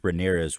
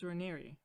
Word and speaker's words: Raniere: documentaries is that Keith Raniere was like a very. You know that it's Raniere, right? I don't care. Yeah, apparently I've been saying it wrong.